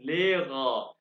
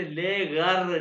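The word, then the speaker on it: Lehrer: तो कैसे, जी जिंड लेगा। अच्छा, इसको आपने लेगर नहीं कहना, लेगर नहीं, जर्मन वाले प्रोनाउंस करते हैं लेगा, लेगा।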